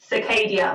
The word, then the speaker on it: Scy'Kadia: Scy'Kadia, like cicada, but with a long A.